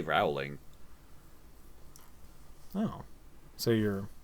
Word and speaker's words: Rowling: Wait, did you say Rowling or Rowling? Rowling? I say Rowling. Oh, so you're not pronouncing names correctly. It's like Skid Row.